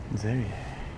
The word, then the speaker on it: Serie: It's an S though, right? But it has a Z sound. Zerie. Cool.